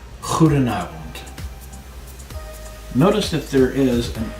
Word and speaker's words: goedenavond: Goedenavond. Goedenavond.